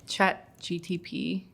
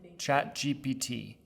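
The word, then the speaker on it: ChatGPT: chat GTP 3 website are you pronouncing it chat GTP am I am I saying it wrong have I been saying it wrong this whole video chat GPT GPT GPT I think you've been saying G GTP it's so easy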